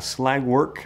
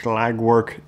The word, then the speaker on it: Schlagwerk: coone behind me is from slag work I think that's the way you pronounce it it's the uh twoin